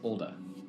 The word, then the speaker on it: Olda: Erland Erland Erland and her name is olda sorry rhymes with Golda cuz she well what